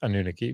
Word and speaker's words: Anunnaki: Is there a macron over the A, the second A, or not? And so should it be Anunnaki or Anunnaki? It's Anunnaki. But I hate that because